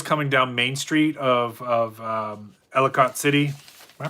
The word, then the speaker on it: Ellicott City: So the water was coming down Main Street of Ellicott City. Am I pronouncing that right? Yeah, Ellicott City, and they could see it rising, and it was getting close to where cars were parked.